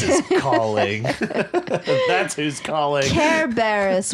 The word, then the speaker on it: Cerberus: Care Barris will greet you there. I know that's how you say it, but I like Cerberus. to say it.